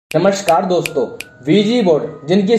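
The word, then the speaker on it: Ouija: नमस्कार दोस्तों, V G board जिनकी स्पेलिंग होती है OUIGA लेकिन प्रोनाउंस इन्हें वीजी किया जाता है।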